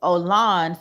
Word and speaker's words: Olan: by the way o ol oh I been mispronouncing his name his name is Olan so I don't know that's definitely not um